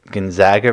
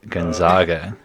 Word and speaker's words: Gonzaga: it was always uh gonzaga versus gonzaga uh which is where i went because a lot of people will say gonzaga and that might even be correct i don't know